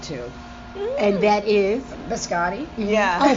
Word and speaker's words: biscotti: And I make a mean biscotti too. And that is? Biscotti. Yeah. Oh, biscotti.